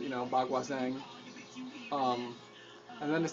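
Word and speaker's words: Baguazhang: It says Bagua Chung, which is not the way that it's pronounced, Bagua Zhang.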